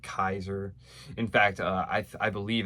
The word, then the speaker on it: Caesar: from Caesar, just like Kaiser. In fact, I believe actually in Latin that's supposed to be a hard sound, like Kaiser, like Julius Kaiser.